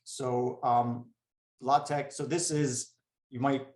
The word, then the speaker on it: LaTeX: i just want to mention something about um latex so um latex so this is you might think it's latex but in math we call this either latex